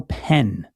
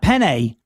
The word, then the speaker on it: Penn: the name of Otto Penn. So there you go. Otto. Was that AUTO or OTTO? Like Otto Graham? OTTO. Oh, yeah. OTTO PENNE, silent E at the end, not Penne.